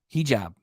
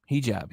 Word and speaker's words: hijab: he wait a minute I still don't know if I'm saying it right hijab okay oh so you're telling me it's he he jab hijab hijab I'll have to